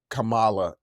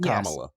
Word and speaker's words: Kamala: a lot of right-wing people that say Cala instead of Kamala and I know Camala